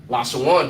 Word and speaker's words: Lashawan: So the A on the na drops off and you pronounce it one at that point. You understand? Which makes it Lashawan.